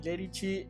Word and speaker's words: Lerici: de vuelta, gracias Mati Lerici, hermosa canción. Y si les gustó, bueno, pueden seguirlo también en Spotify, un gran artista, está como Matías Lerici, así como suena, se pronuncia Lerici, Tano, músico Tano.